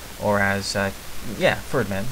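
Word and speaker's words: Fyrdmen: I use them against the Ferdmen, Ferdmen, that's the proper pronunciation, thanks to Kev Bob there.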